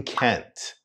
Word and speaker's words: can't: make up my mind once again the t is cut short in Kent Kent I can't make